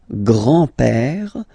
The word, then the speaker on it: grand-père: Le grand-père. Remember, E accent grave like that. It's this opened pè.